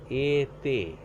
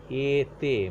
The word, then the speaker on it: été: Actually, what happens for this accent, accent aigu is a right hand side aligned accent used on E, and whenever it is used on E, the pronunciation of E becomes A. A. That is, in the first module I have already discussed that the without accents E is pronunciation O in French. But whenever you are using this accent, the pronunciation becomes A. That means the pronunciation of this word été, été means summer season.